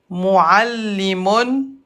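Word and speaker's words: معلم: Muallimun, muallimun, à l'arrêt, le mime avec dammatan se prononce comme mime avec soukoun.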